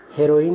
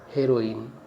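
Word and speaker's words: heroin: हो जाएगा फिल्म वाली हेरोइन। और उच्चारण पर भी ध्यान देना है। हेरोइन सही उच्चारण होता है और हीरोइन गलत उच्चारण होता है।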